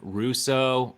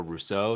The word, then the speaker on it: Russo: We are joined by Justin Russo, or Rousseau, depending on how you say it.